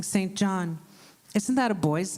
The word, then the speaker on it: St John: then she told me singen was an old way of pronouncing St John isn't that a boy's